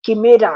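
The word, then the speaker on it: chimera: जो वुमन है यह किमेरा है अंग्रेजी में आपको स्पेलिंग में पढ़ के सुना रही हूं सी एच आई एम ए आर ए किमेरा है किमेरा क्या है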